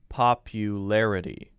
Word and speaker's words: popularity: things i just said larity is sort of like a light d sound and larity is a clear t sound you can say it either way i would say that most native english speakers are going to say larity larity notice that very light sound it's not a hard d sound it's not lara d that's too hard larity so the whole word